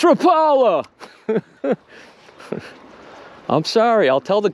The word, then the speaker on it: Rapala: skidder walk skidder walk so you say rapala or you say rapala because the company says rappala whenever i call it rapple and videos though it offends a lot of people it's rapala i'm sorry i'll tell